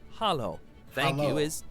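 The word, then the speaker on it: halló: hello in Icelandic is pronounced Hollow thank you is talk yes is yeah no is nay goodbye is bless bless 14.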